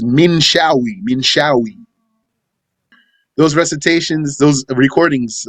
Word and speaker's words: Minshawi: It's Minshawi.